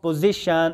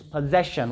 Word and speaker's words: possession: Pronounce this word correctly. It's not position or something else. It's possession.